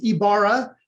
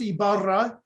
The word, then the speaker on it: Ybarra: parents and grandparents and my last name is ibarra which can also be pronounced ibarra it is uh my